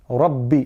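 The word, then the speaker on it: ربِّ: Ra is thick and the ba carries a shadda, so we have to put emphasis on it. And it's not Rabbi, it's Rabbi. Rabbi is how you would pronounce that.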